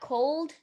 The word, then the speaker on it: Colde: On that same vibe, you also got Cold, and it's spelled COLDE.